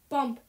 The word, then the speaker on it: Bump: And then it rhymes with lump. Bump.